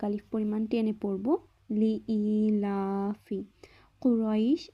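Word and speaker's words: قريش: কুরাইশ, এখানে কফ গলার ভেতর থেকে উচ্চারণ করব।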